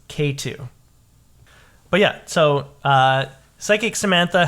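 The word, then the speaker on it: Xatu: I found out that is not how you pronounce it. Uh-oh. Yeah, so I have a correction for my entire For your life. It's actually pronounced K2.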